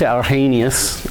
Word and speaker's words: Arrhenius: Not very long after Tyndall, the Swedish chemist Svante Arrhenius, is how I think the Swedes would pronounce it, closer to that pronunciation anyway, estimated that doubling carbon